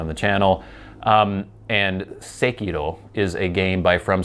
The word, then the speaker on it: Sekiro: And I'm pronouncing it Sekiro because I'm a doofus and that's how it should be pronounced.